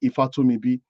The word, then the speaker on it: Ifatumibi: If you look at my surname in the chat, it says Fatumbi. If I pronounce it properly, it says Ifatumibi.